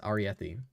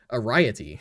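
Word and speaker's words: Arrietty: I had to look up the pronunciation for this. Aretti. Because originally I was saying Araiy and I thought I'd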